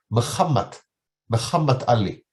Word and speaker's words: Muhammad Ali: This is the mosque of Muhammad Ali. Muhammad, not Muhammad. The Arab and the English, of course, pronunciation is Muhammad. Muhammad.